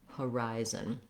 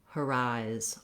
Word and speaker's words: horizon: correct is to just start on the stressed syllable rise this is just the same as the word rise as in rise and shine and so you have here the vowel the diphthong eye you can start with your word rise or your syllable rise and then when you add that first unstressed syllable the rhythm comes more naturally so trying rise horizon